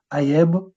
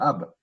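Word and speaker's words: ꜥb: On ne met pas de e muet. On ne dit pas, par exemple, aeb ou aeb. On va dire ab.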